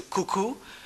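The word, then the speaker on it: cou-cou: make a reference to cuckoo which is spelled c-o-u hyphen c-o-u and that's the national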